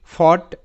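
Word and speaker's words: fought: খুবই কঠিন যেমন আমি যদি বলি এই শব্দের উচ্চারণটা হবে ফট এফ এ ফ ও ইউ জি এস টি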